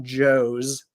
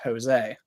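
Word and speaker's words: José: we all know that when you see the name Jose it's not Joe's it's Jose uh English people are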